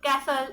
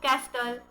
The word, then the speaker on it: castle: So इन सब words में जो टी है, सो इस टी का हम कैसे प्रोनाउंस करते, साइलेंट है ना. सो see here विसल, सो we doesn't say विस्टल, right. It इज कैसल, इट इज नॉट कैस्टल.